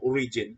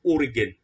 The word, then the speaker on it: Origen: Sometimes ang pronunciation ay Origen pero ang pag-pronounce diri is Origen Adamantios.